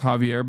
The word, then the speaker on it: Xavier: Xavier is pronounced Javier, by the way.